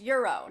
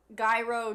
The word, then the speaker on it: gyro: queen tell mary that it's supposed to be pronounced euro not gyro gyro ryro oh forget